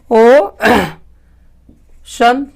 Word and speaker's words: ocean: ओ शन, ओशन। ओशन का मतलब क्या होता है? समुद्र। इस तरह से सी का उच्चारण आपका खत्म हो जाता है।